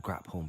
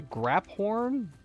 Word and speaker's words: Graphorn: I have been mispronunciating that creature's name this entire time. It's a Graphorn? I've been saying Graphorn, because that's what it looks like.